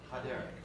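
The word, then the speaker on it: הדרך: Ha-derek. Ha-derek, okay? That's just pronounced like an H, ha-derek.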